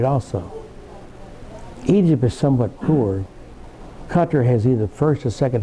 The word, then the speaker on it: Qatar: People down here, we said Qatar, but they pronounce it Qatar.